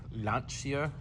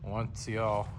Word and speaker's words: Lancia: It's Lanchia as our Italian friends have corrected us several times. Not Lancia, Lansia, Lancia, whatever you want to say.